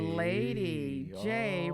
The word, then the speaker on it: Lady J: Well, the J is for, but the Lady J rhymes with Lady Day.